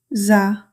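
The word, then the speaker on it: زاي: Our last letter today is zaa. The articulation of zaa is the tip of the tongue near the upper front teeth. In English, we say like Z in zoo.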